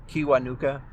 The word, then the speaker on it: Kiwanuka: If you've never heard Mi- Michael Kiwanuka, and it's spelled exactly how it sounds, k i w a n u k a.